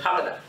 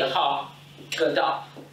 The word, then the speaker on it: Haggadah: But most of us go around pronouncing it Haggadah. But it's really a ha gadah.